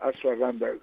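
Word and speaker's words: ashwagandha: La asaguanda asaganda se escribe muy muy te lo pronuncio así, pero se escribe un poquito más complicado porque a s h a g a n d h tal.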